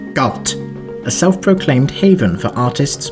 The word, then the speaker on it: Galt: Lies Galt fun fact official Guidance just says it must be pronounced gut a self-proclaimed Haven for